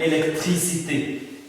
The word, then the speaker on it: électricité: So that one is pronounced as A. A. For example, like a word like électricité. Électricité. Electricité. Definitely that one means electricity. So we say électricité.